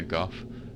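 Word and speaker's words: Gough: The Hawk ring, Hawkeye Goff, or Hawkeye Go. I can't remember the official pronunciation. I want to say Goff though, because he's Yorkshireman. But and then also the Hornet ring, Lord Blade Kieran.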